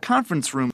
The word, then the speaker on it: conference room: conference room, 컨퍼런스 룸 이렇게 쓴다. 회의실 이렇게 쓴 거야. 강세 앞에 있어요. 이렇게. 명사는 강세를 앞에 줍니다.